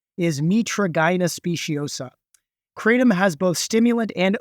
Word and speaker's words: Mitragyna speciosa: And the scientific name, and I had to look up the pronunciation, is Mitragyna speciosa.